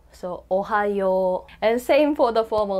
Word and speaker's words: ohayou: And then when you say ohayou to your friends or family, you can say ohayou or ohayou. No, depending on the situation. If it's home, you would be like ohayou.